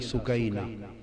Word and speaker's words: سکینہ: لخت جگر شہزادی سیدہ سکینہ، اصل نام ان کا عربی وزن میں سکینہ ہے، عرف عام میں سکینہ چلتا ہے، مگر اصل لفظ سکینہ۔ سیدہ، میں عرف عام